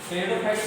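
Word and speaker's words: Pteridophyte: Algae ब्रायोफाइट्स, टेरिडोफाइट पी से शुरू होता है, इसमें पी साइलेंट रहता है, ठीक है ना।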